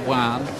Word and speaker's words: Joan: favorite here Juan Gman it looks like Joan Gman when you look at the name on paper but it's pronounced Juan just as well for